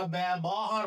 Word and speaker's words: ব্যবহার: এরপর আমরা বলি ব্যবহার, আমরা ব্যবহার বলি না, ব্যব বলি।